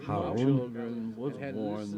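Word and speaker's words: harem: And now he had his Harum, that's actually how it's pronounced, Harum, 30 wives, all childless.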